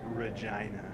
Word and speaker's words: Regina: and uh Regina yeah got to say it like this Regina I know I I